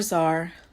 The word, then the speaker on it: czar: C is for czar.